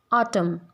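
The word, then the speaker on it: autumn: जैसे इन him, column, ऑटम, ये ottoman नहीं होता, ऑटमन सीज़न नहीं बोलते इसको, ये ऑटम होता है।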